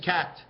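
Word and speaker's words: quatre: how you say four four in French is cat it's spelled like this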